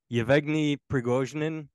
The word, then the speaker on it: Yevgeny Prigozhin: I can't pronounce his name. Yevgeny Prigozhin, the head of the Wagner Group.